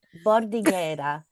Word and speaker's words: Bordighera: I needed you to pronounce that. I was hoping you would say it. Bordighera, which is the name of a city in